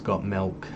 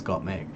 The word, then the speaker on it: Gottmik: She's correcting people all the time because they always say her name's got milk and it's Gottmik.